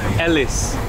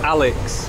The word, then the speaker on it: Ellis: you say my name it is like um Ellis Ellis not not Alex Ellis but everyone call me